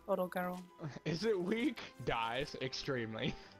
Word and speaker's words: Odogaron: Oh, she said Orogaron. So nice. I have been pronouncing it right this whole time. I like that the way it's pronounced, Orogaron.